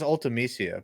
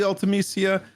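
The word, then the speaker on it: Ultimecia: how you say it i always said it as ultamecia but i feel like it's been too long potato dude i have no idea man i mean it's probably ultimacia listen from canada who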